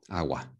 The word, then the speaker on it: agua: pronunciation here basically okay gato agua awa okay okay so basically just says so basically it just says it for the g sound if it's an